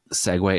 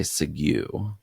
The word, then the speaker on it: segue: Do you guys know that Segway is spelled weird? When I try and plan this podcast, I always want to say Segue instead of Segway because it's spelled Segue.